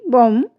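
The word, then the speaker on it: bomb: यदि किसी शब्द में एम के बाद बी आता है अक्षर शब्द के अंत में तो हमारा जो बी होता है बी लेटर्स जो होता है वो साइलेंट हो जाता है।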